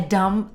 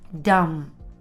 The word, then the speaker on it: dumb: To do a dumb thing. Notice how I pronounce dumb. Dumb. I don't pronounce the B sound at the end.